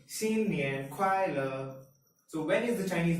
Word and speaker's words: 新年快乐: We say 新年快乐. 新年快乐. It's written as 新年快乐. This, as we all know from 谢谢, is pronounced as 谢, and this means new.